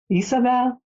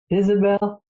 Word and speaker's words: Isabelle: in your language because I was brought up between French and German and English so you can pronounce it in all these different ways and it's for me